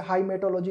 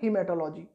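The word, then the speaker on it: haematology: अब जैसे हाइमेटोलॉजी लिखा हुआ था, ठीक है ना, लेकिन उसे बोलते क्या है, हीमेटोलॉजी, ठीक है।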